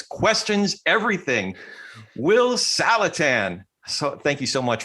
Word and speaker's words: Saletan: Saletan, like Callahan. Saletan.